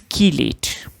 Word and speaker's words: chelate: Now it is pronounced as chelate. So it is chelate.